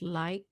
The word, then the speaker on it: Lycos: Well, Lycos it sounds because Lycos is Greek for wolf, but I think it's an American company, so it's pronounced Lycos. I think you're right, but